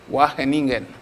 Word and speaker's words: Wageningen: Vous avez raison de ne pas le prononcer correctement. C'est plutôt l'université de Wageningen, donc aux Pays-Bas.